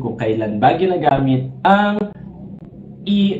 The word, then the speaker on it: y: Dito naman kapag gumamit tayo ng letter Y na Espanyol na binibigkas nga po bilang E, ay inuuna naman natin yung apelido ng tatay.